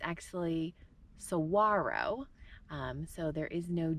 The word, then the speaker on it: Saguaro: large cactuses it's actually Sara um so there is no G or the g is silent um in the name so it's not Saguaro but Saro we